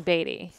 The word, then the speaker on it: Beatty: See, the thing is, he pronounces his name wrong. It's spelled Beatty. Like Warren Beatty. But he pronounces it Beatty.